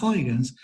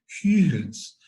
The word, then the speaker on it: Huygens: La G es una G suave, no es Huygen. No sería en castellano, no es una GU, sino que es una G. Huygens.